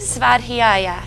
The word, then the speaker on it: Svadhyaya: How do you correctly pronounce it? Svadhyaya Yoga Studio.